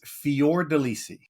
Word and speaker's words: Fiordelisi: How do you say your last name? It's Fior Delissi. Fior Deissi.